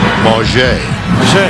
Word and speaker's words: Mauger: And Mauger. That's interesting. Quincy is a senior. And for years he's been known as Quincy Mauger. He asked this year that you pronounce it the French way. Mauger.